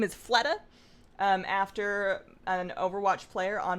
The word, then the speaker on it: Fleta: His name is Fleta, after an Overwatch player on my favorite team. And also because it rhymes with betta.